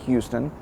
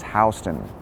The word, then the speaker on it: Houston: Today's neighborhood is SoHo, which actually stands for South of Houston, and that's pronounced Houston, even though it's spelled like Houston.